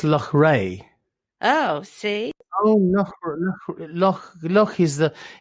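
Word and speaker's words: Loughrea: me spell last time l-o-u-g-h-r-e-a i think it's luck ray oh see look is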